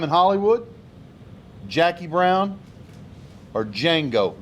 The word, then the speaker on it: Django: hollywood jackie brown or django the d is silent uh again i